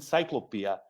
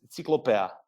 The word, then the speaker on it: Ciklopea: People, actually, native English speaking people often call it Ciklopea. Locally here we call it Ciklopea. Sure. But when it comes to wider international, I think that the more correct is to pronounce it as a Ciklopea.